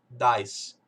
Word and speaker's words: dice: Então aqui é dice. Eu sei que essa primeira sílaba aqui é DI, vai ficar die.